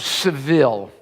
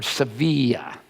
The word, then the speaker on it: Sevilla: They say the barber of Seville, or Sevilla, I want to pronounce that right.